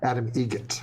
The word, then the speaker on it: Adam Egret: How do you say the name? Adam Egret. Egret. Spelt differently. Like the bird.